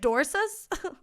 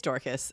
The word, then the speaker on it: Dorcas: dorcas man i okay it's spelled luckily not with a k but it it's spelled with a c but it's like if it was spelled with a k it would be d-o-r-k-u-s dorcas but it's a c maybe it's like dorsis it's dorkas um it's like i